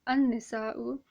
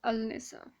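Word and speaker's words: النساء: Hence, an-nisa'u and not al-nisa. Those who know Urdu make this mistake a lot. All right, they always say al-nisa, al-nisa. It is not al-nisa, it's an-nisa.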